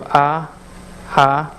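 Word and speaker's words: אהבה: So I just said, just pronounce it ah. So ahava, ahava means love.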